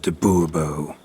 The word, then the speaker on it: de Bobo: better yet as Monsieur de Bobo fine monsieur dabubo the emphasis falls on the last syllable bubble mm-hmm see now